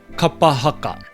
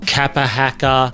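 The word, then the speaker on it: kapa haka: In our pause for pronunciation today, we're going to look at the word kapahaka.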